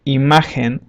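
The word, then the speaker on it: imagen: haven't heard this um it also is similar to for example when we laugh and we say haha it's similar to that sound and this will apply when G is followed by the vowels e and I for example the word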